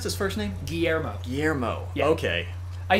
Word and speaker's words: Guillermo: is a character in this game how they pronounce this first named Guillermo Guillermo okay I said a friend named Guillermo we always called him GUI err mo just to mess with GUI yeah GUI err